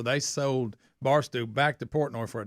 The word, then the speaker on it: Portnoy: Portnoy, had this, sold it for like $500 million.